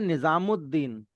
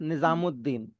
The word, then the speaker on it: निजामुद्दीन: बट उसको बोला जाता है निजामुद्दीन। उ की साउंड आ रही है। लाम की साउंड साइलेंट है। और दीन में जो दाल है जिससे दीन सेकंड वर्ड शुरू हो रहा है उसकी साउंड ऊ पर तजदीद लगा के डबल कर दी है। तो इट्स निजामुद्दीन। तो वो उद उ के साथ दाल की साउंड आ जाती है। एंड उद एंड फिर दीन निजामुद्दीन। That's how we pronounce it निजामुद्दीन।